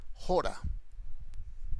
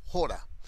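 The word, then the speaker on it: ὥρα: Una hora es la palabra, es una palabra del griego, un vocablo que se pronuncia jora, con J, jora, tilde en la O, jora.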